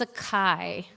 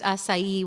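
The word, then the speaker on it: açaí: What's a kai? It's actually pronounced acai, Willa says.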